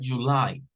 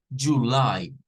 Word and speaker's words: July: Pero también se puede decir con el schwa.